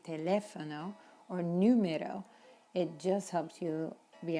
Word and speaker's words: número: When we need to emphasize, like the U in the word number in Spanish, it's important to emphasize that sound. Número, not numeros, números.